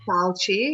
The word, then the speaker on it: Fauci: Fauci. Fauci, yeah, that's good.